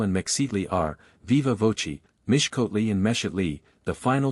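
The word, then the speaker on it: Mixcoatl: first some little difficulty the letter X is invariably pronounced as sh so that mix scal and mle are Viva voi Mish kotle and mes Lee the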